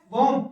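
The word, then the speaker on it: womb: climb ये क्या है वम क्या है ये वम इसको वूम भी बोलते हैं वम भी बोलते हैं और वूम भी बोलते हैं ये गलत नहीं है फिर आता है नम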